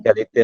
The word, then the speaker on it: égalité: Itu bacanya gimana sih, biar agak benar? Liberté, égalité, fraternité.